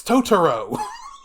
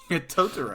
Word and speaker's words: Totoro: to correct her and the actual Japanese pronunciation of the word troll she says no no it's tooro tooro like okay that's his